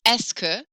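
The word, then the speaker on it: est-ce que: at the end but to put the phrase esker yes all of that is pronounced escu put esca at the beginning so eske literally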